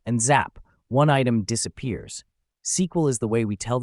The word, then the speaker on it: SQL: SQL, say it like SQL, stands for structured query language.